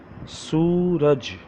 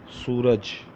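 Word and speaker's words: سورج: Suraj, Suraj. How to say Suraj? Let me pronounce alphabets.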